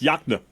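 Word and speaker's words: Yokena: K E N A Y O K Yakna? That's right. You said it correct. I thought you were going to say Yakna. Yes, Yakna. Oh, cuz there's the river, right? The Yakna the river, the good fishing river.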